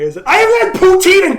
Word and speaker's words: poutine: It's not pronounced poutine. It's French, so of course it's poutine. But nobody actually fucking says that unless you're from Quebec.